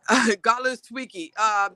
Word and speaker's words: Godlewski: Mike Godleswicki. Godleswicki. His name is Mike, and then it's spelled Godlewski. He's in Schenectady Family Court.